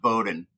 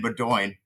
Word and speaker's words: Bowden: There's a name that's pronounced Bowden. And to me, it looks like Bedoin. And I swear it took me 5 or 6 races working with Allie. I kept saying Bedoin, and she would lose